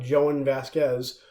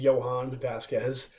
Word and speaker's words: Jhonen Vasquez: by an artist named artist and writer named Joanne Vasquez who for years I I pronounced Johan Vasquez but it's called joining the homicidal maniac it's